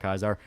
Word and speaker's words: Caesar: weird lizard people yeah Caesar not kaisar in New Vegas they refer to Caesar as kaisar it's an actual pronunciation they use but um yeah so